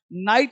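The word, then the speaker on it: knight: KNIFE knife, चाकू, KNOT not, Connaught नहीं नॉट, गांठ बांधना नॉट, नॉक, कनॉक नहीं खटखटाना, नाइट मतलब योद्धा, योद्धा को नाइट बोलते हैं।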